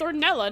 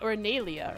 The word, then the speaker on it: Ornella: Is her name It's It's Ornella, not Ornelia.